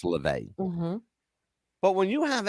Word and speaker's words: LaVey: And that's just, when you have the head of the Satanic Church, Anton LaVey, the announcer pronounced it wrong. He said Levy, it's LaVey.